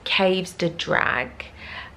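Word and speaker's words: Coves del Drach: He said it's pronounced Caves de Drag, and I thought it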